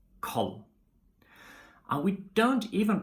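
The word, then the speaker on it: kald: We don't pronounce the letter D in combinations ND, RD, and LD. Okay, we just drop it. Like for example in lon, or bor, or koll.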